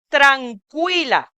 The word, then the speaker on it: tranquila: la última palabra, muy bien, se pronuncia tranquila. Cuila. Ese sonido de la que, la letra que con U, se pronuncia qui.